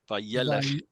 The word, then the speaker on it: Vayelech: Adonai- Vayelech. The accent is on the yeah.